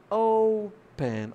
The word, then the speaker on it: open: Vamos pronunciar open. Opa! Aí você já percebe que a sílaba tônica é no O.